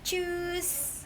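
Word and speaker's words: Tschüss: Choose kayak cus aja gitu, kayak gimana ya, cus gitu, cus gitu, cus gitu, tapi depannya kayak ada t, cus gitu, tapi nggak tecus juga, tapi cus gitu.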